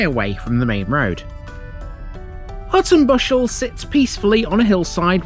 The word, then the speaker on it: Hutton Buscel: next parish along the route into town is Hutton Buscel. The main settlement here is the village of the same name, and it's a way away from the main road. Hutton Buscel sits peacefully on a hillside with grand views